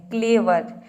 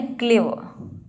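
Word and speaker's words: clever: pronounce नहीं करना है यदि आप प्रोनाउंस भी कर रहे हैं तो आधा प्रोनाउंस करना है कभी-कभी होता क्या है कि हम जब आर को प्रोनाउंस करते हैं तो पूरा र प्रोनाउंस कर देते हैं तो आपका प्रोनंसिएशन क्या होता है गलत हो जाता है क्लेवर इसको आपको बोलना है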